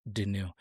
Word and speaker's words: Denoux: our last name, to tell them it's like out with the old, in with DeNew.